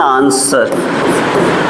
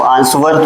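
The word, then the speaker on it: answer: दिख रहा है ना, तो आंसवर तो नहीं बोलते हैं। ऐसे तो आपको आंसवर बोलना चाहिए, आंसवर वह भी होना चाहिए बीच में, लेकिन अब वह साइलेंट होता है, इसका मतलब यहाँ पर डब्ल्यू साइलेंट वर्ड होता है।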